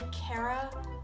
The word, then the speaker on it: ceithre: And one other thing that changes, so the number four is going to change to cara. Different spelling and different pronunciation. If you're 14, you're going to say tam cara blena j day.